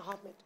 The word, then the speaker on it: Ahmed: Because that's the correct pronunciation, Ahmed.